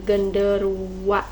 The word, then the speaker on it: genderuwo: Ya, Mama Juabi mau membahas soal genderuwo ya. Atau yang dalam bahasa Jawa itu sering diucapkan dengan genderuwa.